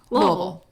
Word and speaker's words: Louisville: people but that's how that's how you say louisville don't pay attention to how it's spelled don't worry about it like for sales oh yeah don't go there